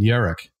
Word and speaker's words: Yarak: And then there's another thing in the book that he mentions, that he wanted to keep the company in Yarak. Y-A-R-A-K is the way it's spelled.